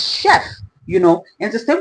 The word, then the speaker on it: chef: India the word um chef is a French word and I always um I feel like when I see people say chef especially my Nigerian brothers it's a French word it's chef you know and the